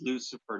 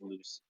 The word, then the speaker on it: Lucifer: being able to say Lucifer entirely but yeah there was a demon long time ago but I think his name was Lucifer not lucier and now they heard